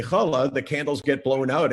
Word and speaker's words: Challah: Challah. No. I mean, that's the right word, but it's a terrible pronunciation. Challah. There you go.